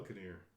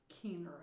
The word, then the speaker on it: Keener: Okay, how do you spell Kinnear? Well, hers is Keener, actually. Oh. Catherine Keener. I'm saying it wrong. I'm putting the E's in the wrong place.